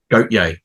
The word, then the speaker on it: Gotye: Well, I know we talked about this off air, but the one I thought of was Gotye or Gotye. Gotye. Gotye, thank you. I was trying to. How do you pronounce this?